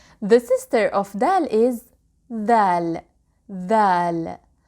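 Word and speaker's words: ذال: The sister of dal is dhal. Dhal. Dhal is pronounced like the hard th in English, like the th in the word this or the word that.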